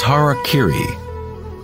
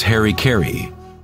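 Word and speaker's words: hara-kiri: Form of ritual suicide, or seppuku, was harakiri, was often mispronounced as Harry Carey.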